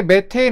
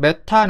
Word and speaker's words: 메테인: 아니면 나 같은 꼰대들은 메탄 에탄 프로판이라고 얘기하는데 이게 왜 그러냐면 옛날에는 독식 발음으로 메탄에 이라고 했어요 학교에서 그렇게 가르쳤고 그렇게 배운 사람들이 사회에 나서 그렇게 써 먹었죠 근데 지금은 메테인 에테인 프로페인 영어식으로 지금 학교에서 가르치고 있습니다 학교에서는 메테인 에테인이라고 하지만